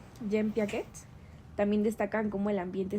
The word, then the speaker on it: Jean Piaget: Y estudios de John Piaget, creo que así se pronuncia. Jean Piaget, también destacan cómo el